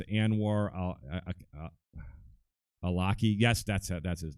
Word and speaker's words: Anwar al-Awlaki: Omar I see and and war yeah it's Anwar al-awlaki yes that's ed that's his name sorry I couldn't pronounce that Anwar al-awlaki and of course is sixteen-year-old son they were